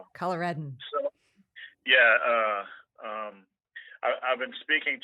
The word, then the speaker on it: Coloradan: I've been talking with a fellow Coloradian. Is that how do you say it? Yes, Coloradan.